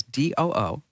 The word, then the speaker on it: Doo: And this is a great story, and it gets even better because the guy's name, let me just spell it for you. His first name is D-O-O.